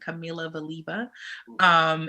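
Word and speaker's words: Kamila Valieva: But the other one, and I'm not sure if I'm pronouncing her name correctly, but it's spelled Kamila. Last name spelled Valieva. So I'm pronouncing it Camila Valieva.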